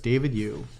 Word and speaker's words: David EWH: David EWH appreciated but it's pronounced like you there you go so it's David you does reef what's up